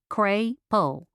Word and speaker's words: Crapel: I'm Crapel, pronounced Cray-Pull.